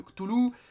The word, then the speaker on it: Cthulhu: Ou alors, en théorie, il faudrait pas prononcer le Cthulhu, il faudrait dire Hulu ou Kulu.